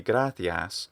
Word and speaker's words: gratias: quality of it um so it's not really gratias or gratias but gratias gratia sounds a little bit more like um almost like catalan or something it's beautiful i really like it um here though of course it's a long vowel so we'd expect to be gratias i'd like it to be a little bit longer sounding i think it's